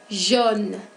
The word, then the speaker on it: jaune: Jaune. Pour la prononciación, la A y la U se juntan para producir el sonido de O.